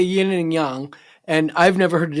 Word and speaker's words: yang: Yin and yang, like YANG. And that's kind of how you pronounce it, So that's, now we know how to say. Yang is sort of like an Americanized. We're really mispronouncing it.